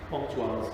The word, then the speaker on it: Pontoise: Pontoise, that's okay.